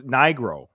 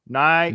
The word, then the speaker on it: Nigro: I don't think it's a hard I, so I'm not going to try that one. It's either. So it's Nigro. Nigro.